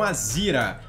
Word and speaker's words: Azera: Um Azira, né? Eu falo Azira. Azira eu acho que fica meio feio, mas eu acho que o jeito certo de falar é um Azira ou um Audi A5, galera.